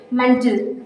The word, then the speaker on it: mantle: Here A represents, here A is silent, so this is mantle.